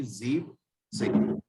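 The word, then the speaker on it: siebzehn: एंड इसी तरीके 17 में हमारी हो जाएगी जीप सेन।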